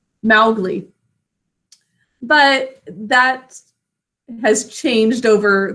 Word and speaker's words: Mowgli: Mowgli. But that has changed over the last several decades. Everyone says Mowgli instead of Mowgli. But it makes sense because there's that ow, cow in the snow phonogram.